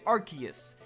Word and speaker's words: Arceus: you're wrong because I stick to the true pronunciation of Arceus I'd stick to the first pronunciation of Arceus